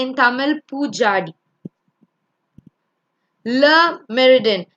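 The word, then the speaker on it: Le Méridien: Le Meridien. It's a French word, so L-E in French is le.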